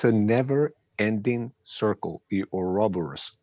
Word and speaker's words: Ouroboros: The Ouroboros, I think I don't pronounce it very well. Ouroboros.